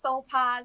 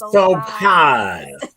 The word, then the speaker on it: Soulpaz: And so what I strive to do with Soulpaz, and you said it right, Soulpaz, you know, you got to stretch it out. Yes, Soulpaz.